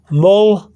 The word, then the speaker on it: moldeada: So here will be moldeada. Okay? Moldeada. When I say fast, moldeada. Okay? You hear the D, but you also have a slight TH sound.